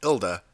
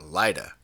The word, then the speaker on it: ILDA: interest and I'm also told that it's pronounced ilda not laa dope this will be